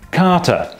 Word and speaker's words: Katarrh: Apparently, in the 19th century, the word catarrh was being used to mean just generally feeling unwell. And at the time, in the dialect of Saxony, it was being pronounced something more like Kater.